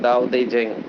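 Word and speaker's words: 道德经: और वर्ल्ड का best management book है सबसे अच्छा, उसका भी नाम है दाओ दे जेंग। वो प्रोनाउंसिएशन ऐसा कहते हैं।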